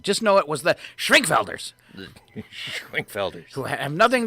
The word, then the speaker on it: Schwenkfelders: The Schwenkfelders. You should say it like you're German.